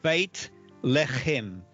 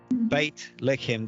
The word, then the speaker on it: Beit Lechem: And then if we think of Bethlehem, in Hebrew, that is Beit Lechem, house of bread. Beit Lechem, again, at the end of that word, it is the tav.